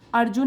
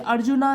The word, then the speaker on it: अर्जुन: अब यहाँ पे ए तो लिख लेते हैं, लेकिन हम जब हिंदी में है ये वाला जो नाम है अर्जुन ही बोलेंगे, अर्जुना नहीं बोलेंगे, अर्जुन।